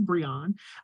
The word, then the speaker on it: Briyon: I hope I did say it right because my name has been said wrong my whole life, but it is Briyon.